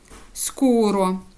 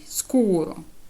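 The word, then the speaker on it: scuro: О солді голосна Так коли в нас ес тоді після неї йде глухий приголосний наприклад к скуро темний скуро та темний тоді ми читаємо як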